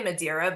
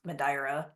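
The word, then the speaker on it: Madeira: mad Island okay okay I think like English people say madira but it's actually pronounced madra okay I'll check right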